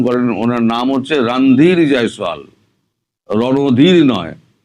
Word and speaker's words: রণধীর জয়সওয়াল: ভারত বলেছে রণধীর জয়সওয়াল, আপনারা ভুল উচ্চারণ করেন, ওনার নাম হচ্ছে রণধীর জয়সওয়াল, রণধীর নয়।